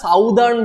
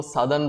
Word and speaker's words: Southern: every each and every one of you never pronounce it as Southern blotting very irritating the moment you say Southern blotting examiner has got a very bad impression